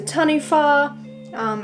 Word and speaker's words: taniwha: It's a taniwha. If you don't know what that is, it's spelled T-A-N-I-W-H-A.